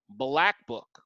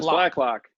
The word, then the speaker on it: Blacklock: the name of Ross Blackbook. What was it? I think I said the last name wrong. Is it Blackman? Blackman, thank you. Is it Ross Blackman? I can't read Blacklock. Blacklock. Blacklock, thank you.